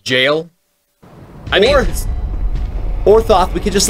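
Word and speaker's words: gaol: It's pronounced jail.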